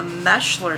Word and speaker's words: Moeschler: Now, I'd have to go back to my 3 times great-grandparents on the Moeschler side, M-O-E-S-C-H-L-E-R, or Moeschler. Maybe I should pronounce it Moeschler, so the closed captioners can get it right, to find the Prussia, Germany.